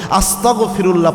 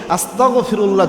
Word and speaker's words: আস্তাগফিরুল্লাহ: ক খ গ এই এই গ দিয়ে উচ্চারণ করতে হবে অনেকে আস্তাগফিরুল্লাহ বলে ক দিয়ে উচ্চারণ করে তো এটা করলে যেটা